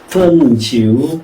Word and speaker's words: 汾酒: 이게 왜 재밌느냐 하면은, 요 광고 문장을 중국어로 읽으면은요, 삼국지의 요 구절하고 발음이 똑같아집니다. 허지우 비펀, 펀지우 비허, 허지우 비펀, 펀지우 비허.